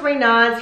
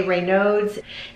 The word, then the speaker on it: Raynaud's: and how do you pronounce it so it's pronounced raynaud's you'll sometimes hear people say reynolds in fact i think i said reynolds in